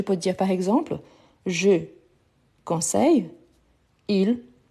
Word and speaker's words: conseil: Donc, je peux dire par exemple, je conseille, il travaille. Donc, la prononciation, c'est la même. Conseil, conseil. Ici, en fait, ici, on prolonge un peu.